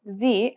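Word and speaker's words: ز: a DOT on top in terms of pronunciation you say it just like the English Z as in zebra or Al jaaz practice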